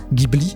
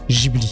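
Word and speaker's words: Ghibli: sûr de la prononciation si on dit Gibli ou Gibli et bien on peut dire les deux Gibli c'est un mot italien qui fait référence à un vent chaud du désert on peut le prononcer à l'italienne Gibli ou à la japonaise Gibli voilà j'étais obligé d'en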